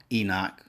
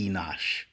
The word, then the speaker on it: Enosh: 1 Chronicles 1 and1 it says Adam, Seth, Enoch, Kenan, Mahleio, Jared, Enoch, Methuselah. I think I mispronounced that after Seth. I think it's Enosh.